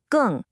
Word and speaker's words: 更: The character is gèng, pronounced gèng.